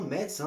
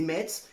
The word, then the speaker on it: Metz: à me saouler, c'est Metz et c'est médecin. Voilà, moi je prononce le T, à Nice on prononce toutes les lettres, donc ça sera Metz et médecin.